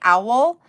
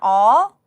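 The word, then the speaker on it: awl: It's a WL is how it's spelled. It does sound like owl, but it's an all.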